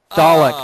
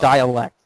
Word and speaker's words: Dalek: Dalek, not dialect.